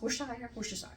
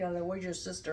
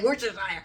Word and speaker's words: Worcestershire: I'm going to say it wrong, but not as bad as that somebody says, like, where's your sister or something like that. I'm like, I can at least say Worcestershire.